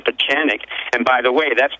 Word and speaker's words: Pieczenik: or what I am it's already difficult to pronounce my last name for chanic and by the way that's been my secret